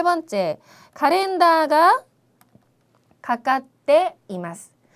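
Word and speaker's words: カレンダー: 그 다음에 세 번째, 카렌다가 가까떼 이마스. 카렌다, 이렇게 장음이 나오면은 꼭 한 박자씩 세서 발음을 해야 예쁜 발음이 된다고 말씀드렸죠.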